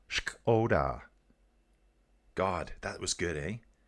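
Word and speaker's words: Škoda: You still pronounce the K. Shkoda. Shkoda.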